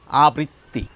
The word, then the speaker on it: আবৃত্তি: এই শব্দটি যখন বলছি দুটো ব আসছে উচ্চারণে, আর এই শব্দটি যখন বলছি একটি ব আসছে উচ্চারণে।